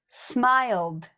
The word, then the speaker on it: smiled: What we're doing is we're just saying the verb and then pronouncing a d sound.